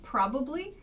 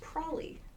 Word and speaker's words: probably: have passed the test this probably reduces to prolly prolly is what it sounds like we do not spell it prolly but it sounds like that I probably would have